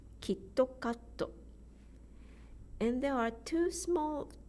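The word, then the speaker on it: キットカット: bits kakko another example KitKat in English is two syllables two beats kid cupped in Japanese the rhythm is kitokato and there are two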